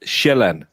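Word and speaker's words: Sjælland: We call it shellan because the j makes a j sound. So it's land. But in English you pronounce it sealand.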